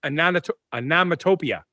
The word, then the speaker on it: onomatopoeia: Well, what is onomatopoeia?